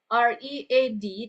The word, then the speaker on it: read: Jadi tulisannya tetap eh ee penulisannya sama R E A D tapi ee tergantung dari penggunaan eh grammarnya itu akan menentukan eh bagaimana pronounciation-nya pengucapan kata tersebut.